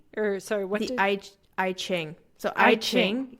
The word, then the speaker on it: I Ching: What is, now I've lost the correct pronunciation, but you said it's based on like astrology, has the chakra system, and Jing Chi, or sorry, what The did... I Ching.